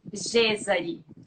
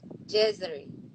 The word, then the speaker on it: Gezary: Gezary. Gezary. Gezary. Hard. Kind of. Gezary. Gezary. But like, I love G and I love Gezary. Like, if somebody asks my name now, I say Gezary.